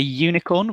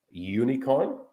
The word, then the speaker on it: unicorn: the reason is because the pronunciation, the sound of the first three letters, the sound is more like a Y, like yellow, unicorn.